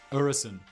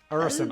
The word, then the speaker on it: Øresund: Help me out, pronunciation wizard. Øresund. Øresund, I'm sorry.